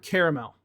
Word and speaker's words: caramel: How do you pronounce the word caramel? So I pronounce it with 3 syllables.